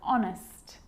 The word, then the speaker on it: honest: And sometimes it's not pronounced at the start of a word, like honest and hour.